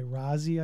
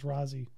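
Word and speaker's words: Raazi: It's R-A-A-Z-I, Razi, I think, is how you say it.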